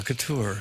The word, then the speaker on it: Couture: Do you pronounce I it believe Couture? so. Yeah, Couture.